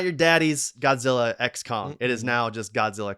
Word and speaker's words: Godzilla x Kong: Adam winguard revealed that the X in the movie title is silent both stands for collaboration